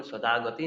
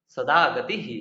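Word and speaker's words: সদাগতিঃ: যখন বিসর্গ থাকবে তখন একটু আলাদাভাবে উচ্চারণ করতে হয়। যেমন সদাগতি না বলে সদাগতিহ এভাবে বলব।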